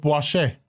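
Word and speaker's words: Boichez: in the city of B spelled b o i c h e z very everything in this country has a let's call it French pronunciation in the country of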